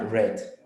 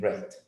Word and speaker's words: read: En sus tres formas se escribe igual, pero se pronuncia red. Red. Los pasados se leen red, aunque se escriban igual.